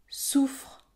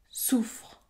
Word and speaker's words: soufre: de phonème véritablement long regardez cet exemple souffre soufre ces deux mots ont des définitions différentes l'un s'écrit avec deux F et l'autre avec un seul F pourtant la prononciation est identique souffre soufre on prononce un f